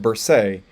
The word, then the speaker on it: bursae: So if you have an A, like in bursa, then it makes it so that it's an AE, which is pronounced bursae.